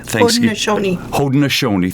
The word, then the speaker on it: Haudenosaunee: At your suggestion, the best way to begin today's discussion is with and correct me if I say it wrong, the Haudenosaunee Haudenosaunee, thank you very much, the Thanksgiving address.